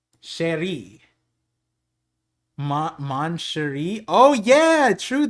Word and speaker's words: chéri: It is like in French, it is pronounced with an SH. Chéri.